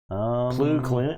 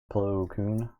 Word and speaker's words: Plo Koon: Plu Clune? I don't give a shit. Plu Clune wanted me to say his name correctly. It's Coon? Plo Koon. There's no L on his last name?